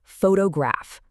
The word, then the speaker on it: photograph: Take photograph, right? The stress is clearly on the first syllable, but the moment you add a simple suffix like, the whole pattern completely shifts.